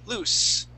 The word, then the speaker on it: loose: Okay, loose. S, there's no vibration here. Try that. S, no vibration. Z, vibration. Okay, that's how you can tell that you are saying it correctly. Loose, no vibration. Lose, vibration.